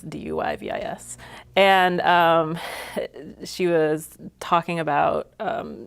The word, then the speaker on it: Duyvis: by a writer named Corinne DeVice, I believe is how you pronounce her last name. And It's Duyvis.